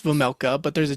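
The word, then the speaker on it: Vejmelka: So you when you pronounce the whole last name, it's Vamela, but there's a J in there like V vega.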